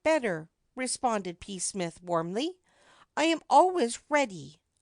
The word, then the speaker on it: Psmith: name is p Smith P Smith the p is silent P Smith PE Smith